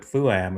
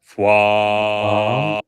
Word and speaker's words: FWAM: I was going with FUAM is what I thought I heard No. before, but FWAM.